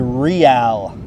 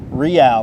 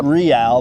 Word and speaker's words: Reale: Reale. Reale, not real, Reale, because there's a historic roadway that goes throughout Southern California called El Camino Real.